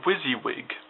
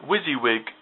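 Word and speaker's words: WYSIWYG: want to use is what's called a wizzywig editor wizzywig if you uh if you spell it the letters stand for what you see is what you get which basically means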